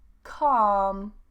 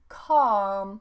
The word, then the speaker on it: calm: So normally if we have an AL combination, we don't pronounce the L.